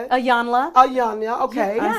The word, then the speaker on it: Iyanla: Iyanla. Ayana, okay. I say Iana.